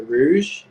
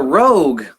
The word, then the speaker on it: Rogue: So the next, and actually what's currently being played in the background is the Rouge. Is that how you say it? The Rouge? The Rouge. It's the Rogue.